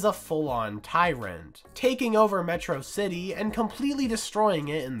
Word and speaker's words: Metro City: their little flying Chase Metro man calls Metro City matrosity and the only person who pronounces it like that is MegaMind this little blunder